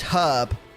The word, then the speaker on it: herb: one as well is herb i think americans just skip out the h all together don't they don't they